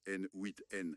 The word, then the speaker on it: n8n: Pour l'automatisation des tâches, des plateformes comme N8N, on prononce N8N, c'est important, ou Make qui ont des plans gratuits ou abordables.